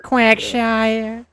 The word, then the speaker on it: Quagsire: Is Quagsire? Quagsire.